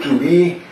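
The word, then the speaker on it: طوبی: چون توبی میدیستن دیگه، درخت توبی ولی توبا تلفظ میکنن، درخت من چرا توبی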